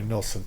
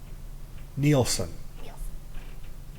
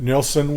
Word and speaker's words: Nilsson: I called in because he mispronounces Harry Nelson's name he calls him neelson now Steve met Nelson in Hawaii in Honolulu at this Resort Hotel and nilson was drinking some P